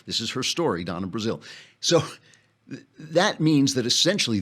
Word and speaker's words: Brazile: But now Donna Brazile, right, is that how you pronounce it? Brazil, yeah.